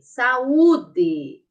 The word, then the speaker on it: saúde: ó sa u D saúde aí vocês juntam juntam os sonzinhos saúde Qual é som a sílaba mais forte aqui o u gente e qual é o